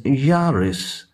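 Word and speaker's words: Jauras: culture mr yaris yaroslav though it is spelled as j-a-u-r-a-s it is pronounced as yaris yaroslav assistanto karminova and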